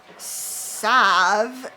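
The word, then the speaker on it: salve: Mike the tinkerer 4827 Sav up here the L is silent I don't know where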